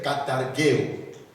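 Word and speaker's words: καταργέω: Et le verbe grec qui est là, c'est le verbe katargeo. Katargeo. Katar, comme on le prononce, comme Kinshasa, Ka, ou Katanga, Katar, Geo, comme géographie.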